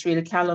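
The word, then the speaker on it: Frida Kahlo: Help me with the pronunciation. Freda Ko Museum. Hi. Yes, Freda Ko Museum.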